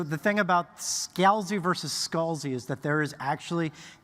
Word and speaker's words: Scalzi: Okay, so the thing about Scalzi versus Scalzi is that there is actually a deep and bitter family divide about which is Scalzi and which is Scalzi.